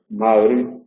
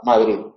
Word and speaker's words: Madrid: Bien, entonces, hay que pronunciar la D final algo relajada sin llegar a emitir la Z. Sin llegar a hacer Z, una D relajada, Madrid.